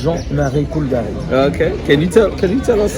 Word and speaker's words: Jean-Marie Coulbary: In English, people will call me Jean-Marie Coulbary, but it doesn't sound well. The French pronunciation is Jean-Marie Coulbary.